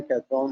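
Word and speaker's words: Cawthorn: उनकी स्पेलिंग कैथरॉन है मगर इनका सही प्रोनाउंसिएशन है सैम कॉथरॉन।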